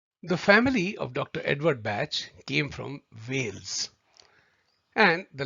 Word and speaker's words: Bach: different from english language his name what is to be pronounced as batch and not the german pronunciation of bach batch rhymes with match